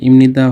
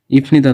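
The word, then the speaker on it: 입니다: এখন দেখুন যে এই ইমনিদা হলো কেন? ইফনিদা তো হওয়ার কথা ছিল, যেহেতু এটা হচ্ছে ফ, তো ইফনিদা না হয়ে ইমনিদা হওয়ার কারণ হচ্ছে যে এই যে এটা এখানে হচ্ছে লয়ের উচ্চারণ, এই যে ল আসছে নিউন, নয়ের উচ্চারণ আসছে, এই জন্যে আসলে বিয়োগটি প না হয়ে ময়ের উচ্চারণ হয়েছে।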